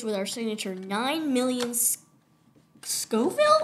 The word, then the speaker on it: Scoville: our signature nine Millions Scoville or Scoville you said it right oh yay unit